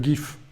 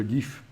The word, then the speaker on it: GIF: Je ne sais pas pourquoi on le prononce GIF. Oui, c'est parce qu'en américain, le G se prononce J. Ça doit être pour ça. Sinon, ça vient de graphique interchange format. Donc, c'est bien un G.